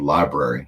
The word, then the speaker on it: LBRY: Also one called Library. It's spelled LBRY.TV.